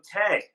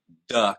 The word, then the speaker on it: Te: Well, it's spelled T-E, so it is, everybody who hasn't heard me say it thinks it's Tay or Tuh or something like that. But it's Duh, kind of like the Tao is spelled T-A-O.